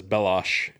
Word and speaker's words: Belloq: He says Bellosh and Indy says Belloq.